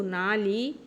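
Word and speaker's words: 哪里: এখানে একটা চেঞ্জ আসবে উচ্চারণে, সেটা হচ্ছে পরপর 2টা থার্ড টোন যদি থাকে একই ওয়ার্ডে তাহলে প্রথম টোনটা লেখার ক্ষেত্রে থার্ড টোন লেখা থাকবে, কিন্তু উচ্চারণের সময় সেটা রাইজিং টোন উচ্চারণ হবে। না লি, যেমন না লি, না লি, না হচ্ছে রাইজিং টোন, এখানে লি, না লি, এভাবে উচ্চারণ করতে হবে।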